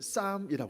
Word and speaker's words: psalm: 좀 고통스럽게 얘도 죄송한데 스펠 이는 좀 다르지만 psalm 니다 그래서 발음은 싸움이라 그래요 쌓아 바로 뭐라구요 예